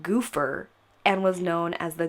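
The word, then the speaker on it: Gophers: far this gang spelled GOP H ER was apparently pronounced goofer and was known as the goofer game I've had a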